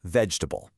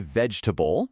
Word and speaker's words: vegetable: Take vegetable. We don't say vegetable, right? We say vegetable. That E and that A in the middle both have turned into schwas.